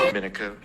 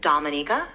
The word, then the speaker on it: Dominica: Dominico. Okay, we'll start with the basics. My country's name is Dominica. We are not Dominican Republic, so it's pronounced differently.